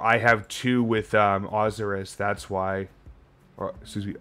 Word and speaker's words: Osiris: in the country where that religion was followed pronounces it azaris not osiris like a bunch of dumb british do you call it born of azaris yes i do you got me some new